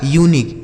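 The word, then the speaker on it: unique: इसे क्या पढ़ा जाएगा? यूनिक। इसे अनिक नहीं पढ़ा जाएगा। ध्यान रखना है आपको कि अगर उसके बाद यू के एक अक्षर के बाद वोवेल होता है तो यू का उच्चारण यू हो जाएगा।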